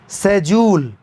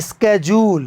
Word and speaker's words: schedule: नहीं तो, इस शब्द को अपने मोबाइल में डालें और सुनें, आवाज सुनें, वे क्या उच्चारण करते हैं - ' शेड्यूल'। और अमेरिकी इसे ' स्केडजूल' कहेंगे।